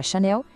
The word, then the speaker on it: Chanel: Pra Chanel é só lembrar de dar ênfase no Nel.